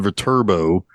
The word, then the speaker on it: Viterbo: uh Joe machine gun Viterbo which is also just kind of a cool name because even though it's not spelled like it it does have turbo it's turbo yeah yeah for sure yeah